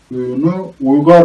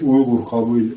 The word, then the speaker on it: Uygur: değiller Bu nedenle buu Uygar olarak telaffuz etmişler ve beş Uygar kabile şeklinde Eee tarihi kitaplarında yer alıyor ama yazılışına baktığımızda bunun beş Uygur kabile olduğunu orijinalinin net olarak görebiliyoruz